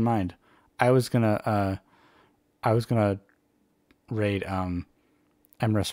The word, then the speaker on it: Emrys: I was gonna raid Emrys Rhymes with Abyss because it's a fellow Emrys, but if you have somebody else that needs the views more, go ahead.